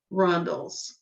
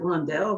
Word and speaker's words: rondelle: I usually pronounce it rondelle because I think that's prettier, but I think that's wrong because I heard somebody say rondel, and I thought sounds weird.